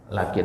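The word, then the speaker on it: لٰكِن: namanya Nun wiqoah dan kata lakin ini itu dibacanya panjang ya kalau ketemu di Alquran nanti lakin itu dibaca panjang ya Jadi kalau kita ketemu lakin itu harus dibaca Dua harakat karena ada tanda Mad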